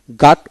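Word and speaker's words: ghat: তারপরে গাট, গাট, জি এইচ এ টি, গাট, এখানে জি এ টি গাট উচ্চারিত হবে। নদীর গাট যাকে বলে জি এ টি গাট, গাট।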